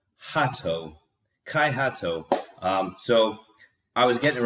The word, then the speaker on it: Hahto: I've been pronouncing it wrong and my apologies. I assume now I can say it. Hahto.